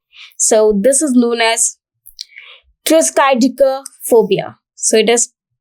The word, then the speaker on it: triskaidekaphobia: So it is triskaidekaphobia. So triskaidekaphobia. This is a long word, that is triskaidekaphobia. But the pronunciation is very simple. You can learn from here. Tris, and tris comes from try.